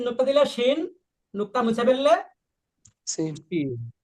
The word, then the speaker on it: ش: এই হরফের নাম শিন।